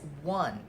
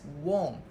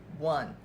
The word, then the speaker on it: won: n it's pronounced as one a lot of my students used to pronounce as Wong which is wrong the correct pronunciation is one just like this word